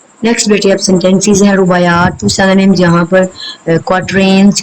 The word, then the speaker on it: رباعیات: pronunciation رباعیات.